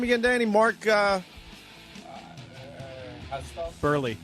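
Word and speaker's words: Buehrle: Mark Burley. Burley, right?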